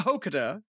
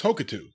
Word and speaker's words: Hokuto: featuring four Japanese women, Bull Nakano and Akira Hokuta. Hokuta? Hokuto? Pikachu? Pikachu? How do you say that? I believe it's Hokuto.